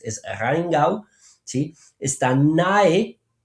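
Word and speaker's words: Rheingau: Sí, Rainu, sí, ojo, no es rengov. Muchos tratan de pronunciar esto como si fuera francés, es Ringau.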